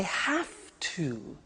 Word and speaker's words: have to: computer at work now did you hear my pronunciation I have to notice I don't say V I say F have have it becomes have to have to becomes in pronunciation